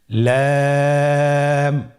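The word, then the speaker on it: لام: লাম হরফটি উচ্চারণের ক্ষেত্রে অবশ্যই বারিক হবে এবং তিন আলিফ টেনে পড়তে হবে। আপনারা আমার সাথে বলুন লাম। লাম হরফটির মাখরাজ হলো জিহ্বার আগার কিনারা উপরের দাঁতের মাড়ির সঙ্গে লাগিয়ে উচ্চারিত হয়।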